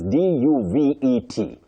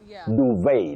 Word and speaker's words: duvet: The spelling is d u v e t. But the t is silent. So you say duvet. Just the way Priscilla said it. Duvet, not duvet.